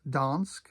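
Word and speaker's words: Dansk: This is donsk as in you can donsk if you want to.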